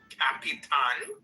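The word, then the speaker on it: Capitán: does tell also there in Mexico it's pronounced Capitan Capitan you just have to look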